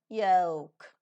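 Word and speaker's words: yolk: Y-O-K-E, yoke. Y-O-L-K, the pronunciation remains the same, yoke.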